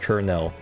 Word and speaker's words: colonel: person you will never understand why colonell is pronounced like kernel really kernel that's how you say colonell yeah